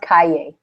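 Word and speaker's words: cahier: how to say it it's spelled it's spelled like cashier but no s like cashier um but it's pronounced Cay thank you I don't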